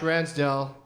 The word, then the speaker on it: Ransdel: coup everybody and ransdale that's how I'm saying it that's how it's spelled do you want people